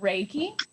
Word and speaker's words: Reiki: heal and preserve life all are connected it's pronounced reiki and it's thought to be an ancient healing